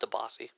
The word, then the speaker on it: DiBiase: It's pronounced DeBossy.